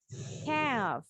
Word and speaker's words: calf: Calf. Bacanya L-nya silent.